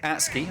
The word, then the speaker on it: ATSCII: Now, coming out here from the attack, we've got Macaulay playing on his new gamertag, which is pronounced ATSCII. That is ATSCII.